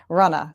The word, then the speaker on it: Runna: Um, so my podcast again is called Runna. R U N Ah, because that's how you say it in Massachusetts with a good old Boston accent. Runna.